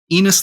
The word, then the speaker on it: Enos: You don't give a monkey a name that rhymes with penis, like because you like him.